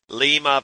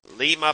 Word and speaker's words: Lima: For example, Lima, Peru, Lima, Ohio.